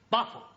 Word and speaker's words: buffalo: Yeah, words that end in O, like buffalo or radio or vertigo, you pronounce the O, but where there is no O, you don't add one, understand?